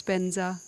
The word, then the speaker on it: Vajra: so differently to Sanskrit, like where Vajra becomes Benza, which sounds quite different, at least to me.